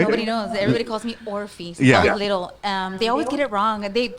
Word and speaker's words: Orfy: my name wrong so I just say orphe or FY and I always like